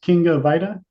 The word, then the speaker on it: Kinga Vajda: Now, before we start is King of Vita. Yes. Yes. That's exactly how you pronounce it.